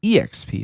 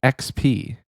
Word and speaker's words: XP: I know that uh every week oxy says EXP enjoyer I don't know why exp enjoyer yeah it like it's spelled exp enjoyer but like you don't say I'm e excited you should say I'm excited so it's XP exp anyway I don't know